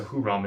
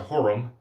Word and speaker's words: Hurum: I don't think it's a Huram, it's a Hurum.